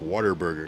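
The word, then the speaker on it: Whataburger: See, I'm saying a like water burger because that's apparently that's how they say it. Um, I said a what a burger.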